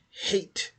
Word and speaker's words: Haidt: Joel Rogan and John hate and I don't like I said I keep thinking that D is silent so hopefully I'm correct other than that it' be pronounced like ha yeah that D's got